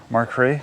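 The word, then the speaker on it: Makhry: here clean so this is how you will pronounce that Mark markray yeah the spelling on this is m-a-k-h-r-y yeah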